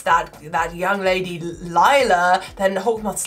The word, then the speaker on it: Lila: I believe it's Lila. I believe now, after we produced an entire miraculous Zoom skit pronouncing it Leela, I have now been led to believe that it is, in fact, Lila. Sorry, gang. It's Lila because she's a Lila. The British pronunciation of Lila.